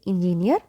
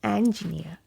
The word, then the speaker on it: engineer: So this is the correct pronunciation, and in British English we keep letter R silent. Very simple. So do not say engineer, say engineer, okay?